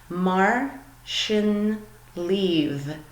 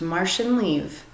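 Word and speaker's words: Mar sin leat: doesn't sound exactly as it's spelled you would pronounce this Mar sin leave that's how it's pronounced Marche and leave all right so I hope that you guys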